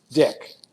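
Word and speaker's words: Dyck: name last name Dy c k but he pronounces it dick in our country that's a funny thing and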